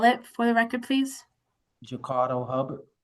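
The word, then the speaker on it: Jacardo Hubbard: Um can you just state your name and spell it for the record, please? Jakardo Hubard.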